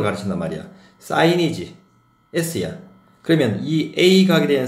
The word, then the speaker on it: sin: 그러면 사인은 어떻게 읽어 주느냐?